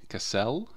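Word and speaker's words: Kassel: and castle real quick cassell pretty sure it's not pronounced like the english word castle okay so that looks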